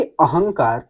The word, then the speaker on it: अहंकार: अगर क आ रहा है तो इसके पांचवा वर्ण अंग है। उसी का उच्चारण देगा। भले ही अनुस्वार जैसे लिखा हो। जैसे लिखा है कि अहंकार देखिए अहंग अंग जैसे आ रहा है अहंकार सम धनगत